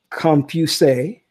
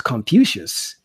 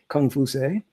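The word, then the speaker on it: Kong Fuzi: Mandarin okay and cut comp you say comp you say or what we mispronounced as Confucius kung fu say and we don't even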